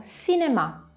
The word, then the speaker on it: cinéma: Il suono C più I lo leggeremo SI, come nella parola cinema, che il cinema si scrive quasi come in italiano, ma in italiano lo leggiamo cinema, in francese lo leggeremo cinéma.